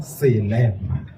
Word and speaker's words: Selema: His starts with an MA, mine starts with an SE. His name is pronounced Malema. I'm Selema. There's a difference.